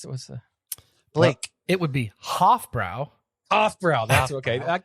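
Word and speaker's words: Hofbräu: Hoffenbrau. No such thing. Oh damn! What's the Blake? it would be Hofbrau, Hofbrau?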